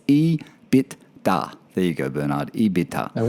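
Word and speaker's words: EBITDA: uh bernard's number plate we couldn't pronounce it in his instagram handle it's e bit da there you go bernard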